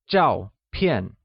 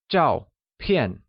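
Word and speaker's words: 照片: Photo literally translates as zhao pian, where both zhao and pian are pronounced with a falling tone on a. Can you try and say that? It's zhao pian.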